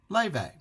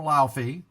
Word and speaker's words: Laufey: they showed the singer Le um I had call her Lai L a U fy but her her she pronounces it le never given her much